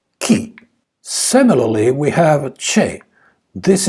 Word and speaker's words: chi: you could hear Italian speakers saying another word key instead of chi and this is also a